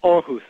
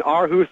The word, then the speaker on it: Aarhus: Yeah, Aarhus.